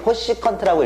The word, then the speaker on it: 코시컨트: 그러니까 여러분들 그냥 CSC, 코시컨트라고 읽으시면 돼요. 코시컨트. 이 네 가지만 이렇게 돼요.